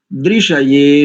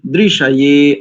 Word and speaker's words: दृशये: तो दृशये नो अस्तु, दृशये, अब ये ए भी दीर्घ है, बस ये थोड़ा सा ध्यान दीजिए।